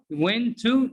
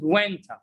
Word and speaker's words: when to: When to? No, it's not. It's pronounced winter. What? Are you serious? Winter? Yeah. When to is pronounced winter.